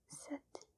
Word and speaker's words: sept: The P is not pronounced. It's silent.